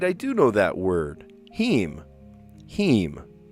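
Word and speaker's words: heme: Heem. He. It's spelled H E M E or H A E M.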